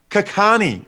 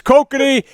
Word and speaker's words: Kokanee: That sounds amazing, but it's actually pronounced Kakani, I believe. Cockney. Anyways, it's Kokanee.